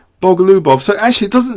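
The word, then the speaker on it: Bogoljubov: So basically, you don't pronounce the J, LJ, you just ignore the J, Bogalubov.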